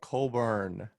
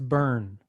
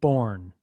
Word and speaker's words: Colburn: I'm your host, Colburn. That's burn, not born. Burn. Even though it's Technically, yeah, spelled it's burn. O-U-R-N-E.